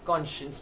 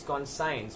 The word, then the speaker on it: conscience: it is actually spit it is said as conscience but the spitting is can science the science of you study so it's Co n s c ience so if you just to read it you would think it is gone science but no it's not it's conscience your moral sense of